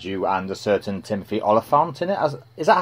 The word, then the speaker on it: Olyphant: it this way i think that's how you pronounce it team oliphant yeah i've had confirmation from arthur mitchell everyone